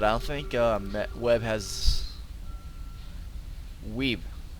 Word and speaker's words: Weeb: But I don't think Webb has Weeb. It's not Webb. I've been mispronouncing it the entire time.